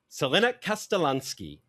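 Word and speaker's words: Crljenak Kaštelanski: That is not how it's spelled whatsoever, because it's Croatian, but that is how it's apparently pronounced.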